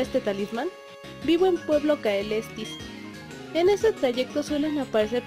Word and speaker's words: Caelestis: Nos vamos hacia Pueblo Caelestis. Sí, se pronunciaba así, Caelestis.